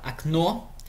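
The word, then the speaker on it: окно: a, e ainda mudei a sílaba tônica para o início, okna, né?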